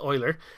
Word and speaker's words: Euler: oiler does it looks like it might be pronounced Euler but it's actually pronounced Euler and what this does it converts a normal